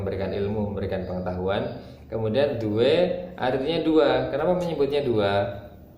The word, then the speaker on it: due: Ingat pembacaan huruf D, dia membacanya tipis. Jadi dibaca due.